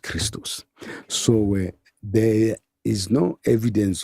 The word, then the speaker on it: Christos: In Greek, XP acte is XP ichtoch and is pronounced Christos.